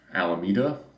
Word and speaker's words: Alameda: to be specific um also the island of alameda that's how you say it also to oakland